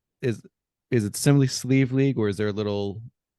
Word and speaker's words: Sliabh Liag: not get this unless you look up the pronunciation sleeve League distillers in Donegal Ireland so James welcome thank